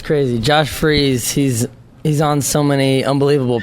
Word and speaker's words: Josh Freese: And Josh Freese, is that how you pronounce it?